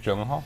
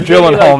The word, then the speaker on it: Gyllenhaal: whatever Jake something is nuts buys it Jake Gyllenhaal no do you know how to say his